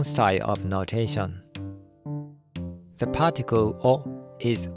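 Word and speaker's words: を: of notation the particle or is O rather than w o w o has a historical basis but the modern pronunciation is O and W O is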